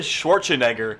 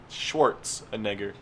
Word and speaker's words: Schwarzenegger: Schwarzenegger. Schwartz, like from Spaceballs. The Schwartz. Egger. Neg. Jaeger? Yeah, sure. Schwartz and Jaeger?